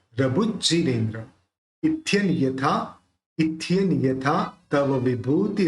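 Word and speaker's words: इत्थं: 37 इथ्यन यथा, इथ्यन यथा है ना, इथ्यन यथा। अब यहाँ पे य है तो इसका उच्चारण न ही निकलेगा।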